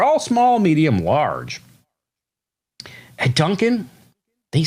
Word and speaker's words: Dunkin': So that's how you spell it. Dunkin'. That's how you pronounce it. Dunkin'. If you pronounce it any other way, you're wrong.